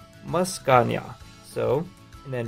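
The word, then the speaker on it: Meowscarada: And then the final one down here, this is pronounced Muscania.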